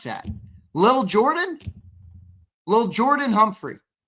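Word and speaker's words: Lil'Jordan: Liil li How do you pron How do you pronounce that? Lil Jordan.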